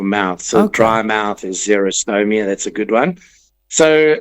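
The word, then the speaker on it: xerostomia: Zero meaning dry like X X E R O like a Xerox machine.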